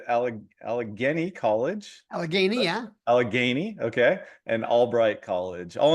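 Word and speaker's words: Allegheny: University I think I pronounced that did I pronounce that correctly I think you're good Matt okay good Al aleni College alany yeah alany okay and Albright College all in Pennsylvania um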